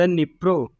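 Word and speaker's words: Dnieper: द निप्रो river also called नीपर, डी नीपर लिखा है लेकिन हम इसे नीपर पढ़ते हैं।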